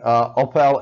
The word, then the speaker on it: Opel: Opel, however you want to pronounce it. In Europe we pronounce it Opel, but whatever.